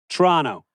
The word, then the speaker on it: Toronto: we head to Toronto which the locals say Toronto Toronto Toronto